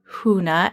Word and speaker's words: Huna: ladies who are listening what is huna and if i'm not pronouncing that right please correct me no you're absolutely right it means secret like